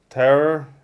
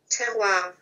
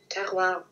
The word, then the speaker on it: terroir: It's called the Terror?